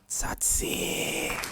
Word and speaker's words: Tsatsii: hands together as we welcome Big Brother Titans satsi I may have mispronounced your name I'm so sorry and you